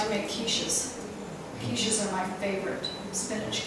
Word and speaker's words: quiche: Oh, quiche.